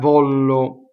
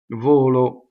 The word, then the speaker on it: volo: V of Rollo okay so volo is closed stressed everything is closed ok 1l volo not valo volo so you can say